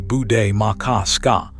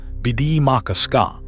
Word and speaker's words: Bde Maka Ska: Roughly, bu day, mah kah, skah. Bde Maka Ska.